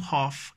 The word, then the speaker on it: half: Then we have half, H-A-L-F, half, half, you know.